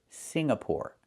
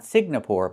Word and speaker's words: Singapore: Singapore, not Signapore, but Singapore.